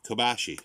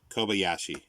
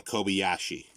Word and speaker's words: Kobayashi: and here's uh uh masaki uh kobushai kobashi kobashi i think that's better yeah masaki kobashi kobayashi sorry this is hard to pronounce these names for me uh masaki uh kobayashi that's it i think uh kawadan